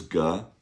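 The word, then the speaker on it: 个: So, the first one we learned was G. That's G E, neutral tone.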